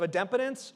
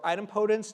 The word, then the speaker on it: idempotence: There's also this concept of idempotence or idempotence, depending on how you pronounce it and who taught you how to say it, which is a